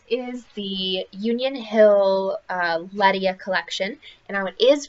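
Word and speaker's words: LeMieux: people call it Leia some people call it Leticia and so so last night I just went ahead and you know tried to find what it was actually called and it is pronounced Leia um so it looks blackish I don't know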